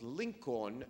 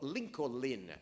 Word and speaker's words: Lincoln: was that we insisted that his name was Lincoln and not Lincolin, as they pronounce it.